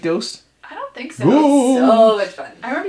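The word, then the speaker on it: Ghooost!: Goose. It's actually Ghost.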